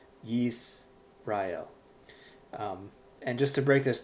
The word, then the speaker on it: Yisrael: This other word here that it gives us, this is pronounced Yisrael. Again, those with a keen ear recognize this is actually the word Israel. Yisrael.